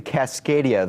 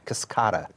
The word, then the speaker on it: Cascada: there was another Buick the Cascadia the convertible I say it correctly cascada oh I'm sorry yeah